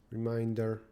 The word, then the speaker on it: reminder: As a reminder, general questions.